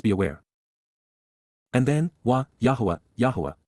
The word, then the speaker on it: Yahowah: And then, Yahowah, Yahowah, the proper pronunciation of the name of Eloah, God as directed in his Torah, teaching regarding